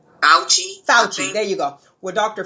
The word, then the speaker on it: Fauci: Fauci, how do you pronounce his name? Fauci, there you go.